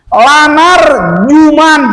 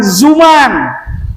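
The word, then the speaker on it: لنرجمنكم: Lanar juman, jangan zuman.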